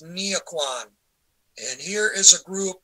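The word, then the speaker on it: Nghĩa quân: In Vietnamese, that's pronounced Nghia Quan.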